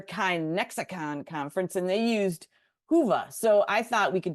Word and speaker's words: Whova: Yeah, today's app is Whova, pronounced, Whova.